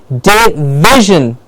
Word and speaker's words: division: The V gets the stress and a clear V. So, perfect, I heard it in the class here, division. Yes, that's how it's correct pronunciation.